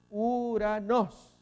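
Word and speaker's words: οὐρανός: Aquí es U, es el diptongo O, y la Y suena U. ¿Dónde no tiene? Acá, porque la pronunciación es Uranos.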